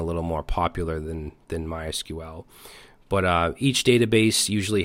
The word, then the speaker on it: MySQL: an object-relational database and I used MySQL for years or my sequel however you want to pronounce it I use that